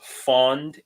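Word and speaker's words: фонд: n d um because in Ukrainian fund is spelled with an O because in the Ukrainian language they don't really have a a short u sound they don't really have a uh sound I mean they technically they but they don't distinguish it from other sounds it's not it doesn't exist in their alphabet I guess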